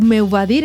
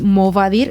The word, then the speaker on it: m'ho va dir: I encara que estigui escrit m'ho va dir, si dic meu va dir, estaria, sí. És correcte, i m'ho va dir no seria correcte, no seria la pronúncia pròpia.